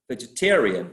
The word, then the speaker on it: vegetarian: on the first syllable but when we attached the suffix in vegetarian we move the stress we shift the stress uh and we place it on the preceding syllable as well so the the this